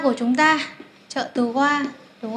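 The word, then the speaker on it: は: chúng ta trợ từ hoa đúng khó viết là hay nên đọc là hoa là trợ từ của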